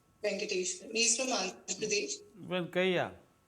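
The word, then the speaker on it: Venkayya: Bengali, sorry, so sorry, sir, I'm not able to correctly pronounce his name. Venkatesh. He's from Andhra Pradesh. Venkaya. Venkaya, yes.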